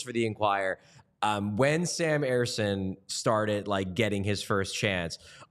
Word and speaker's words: Ersson: And the thing is, it doesn't quite work because you're supposed to say it Ersson.